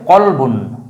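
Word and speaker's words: كلب: এদের অর্থ ভিন্ন অর্থ সম্পূর্ণ ভিন্ন অর্থ কিন্তু উচ্চারণ সিমিলার সাউন্ড তো আমরা প্রথম যে শব্দটা দেখব প্রথম জোড়ার মধ্যে আছে একটা হচ্ছে কলবন কলবন মানে হচ্ছে অন্তর বা কলব যেটা আমরা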